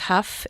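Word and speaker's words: Hough: My maiden name is Huff. H O U G H.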